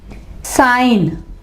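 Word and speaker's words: sign: इसके एग्जाम्पल है साइन, साइन, I और N के दरमियान में G है तो G क्या होगा, वो साइलेंट होगा, G आवाज नहीं देगा।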